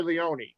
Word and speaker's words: Leone: Of course, I'm talking about Rob Keister and Dana Leone from, am I pronouncing it right? Is it Leone or Leone?